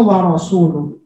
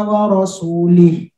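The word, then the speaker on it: وَرَسُولُهُ: Seharusnya bacanya wa rasuluh. Tapi Abu Aswad Ad-Duwali mendengar, ini Abu Aswad Ad-Duwali pakar bahasa Arab ketika itu. Ada orang baca Quran, Annallaha bari'um minal musyrikina wa rasulih.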